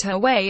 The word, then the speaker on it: Huawei: Huawei pronounced Huawei is already well known at home.